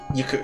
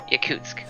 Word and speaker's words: Yakutsk: Yakuz. How do you pronounce that? Yakutsk.